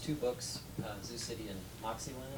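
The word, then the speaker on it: Moxyland: Now, let's see, the first two books, Zoo City and Moxieland, am I pronouncing it correctly? Yes. Moxieland, okay.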